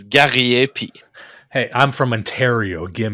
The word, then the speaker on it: Gariepy: even if I try to tell it to you, you won't ever pronounce it correctly. It's Gariepy.